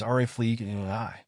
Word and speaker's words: Rafflesia: it's typically pronounced as Rafflesia. The emphasis is on the first syllable of each word, with a slight stress on the E sound in Rafflesia and the AR sound in arnoldii.